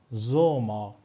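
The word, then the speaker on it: Sommer: داشته باشیم می‌تونیم بگیم زوما زوما زوما زوما می‌بینید اینجا هم ما بعد از اس یک حرف صدادار داریم پس این رو ما می‌خونیم زوما به معنی تابستان دوستان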